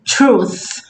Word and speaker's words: truth: Ó a pronúncia de truth, verdade. Ok? Ó. To uncovering the absolute truth. Ó o som do TH. Percebe que não é F? Truth. É um som soprado.